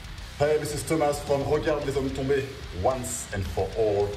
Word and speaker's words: Regarde les hommes tombés: Hey, this is Thomas from Regarde les hommes tombés. Once and for all, please pronounce it like real French.